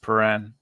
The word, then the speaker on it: Prahran: It's pronounced Prahran.